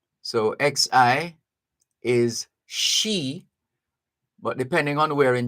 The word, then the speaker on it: Xi: They have characters, but they use the letters of the English alphabet to produce Chinese sounds. So XI is she, but depending on where in China you're from, you're either going to say she or C.